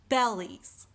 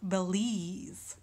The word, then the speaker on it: bellies: seeing is bellies bellies Here I am going to put a stress mark on bail and unstressed on these all right because I'm hearing more of an emphasis on bail rather than Li's bellies instead of Belize and then I got